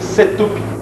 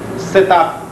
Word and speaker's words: setup: a setop pronuncia-se setup nós teremos aula específica